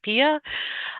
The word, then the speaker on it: PIA: For each one of these measures, we developed a brief performance and impact analysis, PIA, PIA, pronounced as PIA.